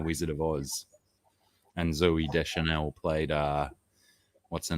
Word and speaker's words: Deschanel: Zoe Deschanel. That's it. Deschanel. Is that it? Just Deschanel? Yeah. It's spelt with 2 O's, but yeah, so it's Zoe.